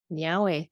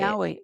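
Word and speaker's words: Niá:wen: Nyahweh, thank you. That's how you say it. Nyahweh, that's thank Nyahweh you.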